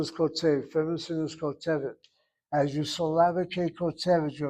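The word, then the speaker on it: כּוֹתֶבֶת: Short vowel should be part of a closed syllable. It is not. If it is not, it's irregular and draws the accent. And so the emphasis should be over the segol. The last syllable is CVC. That's why you have it as kotevet, not kotevet.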